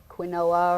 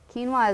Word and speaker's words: quinoa: of quinoa before and it's spelled kind of funny they say quinoa or they have lots of different funny names for it but quinoa is a really great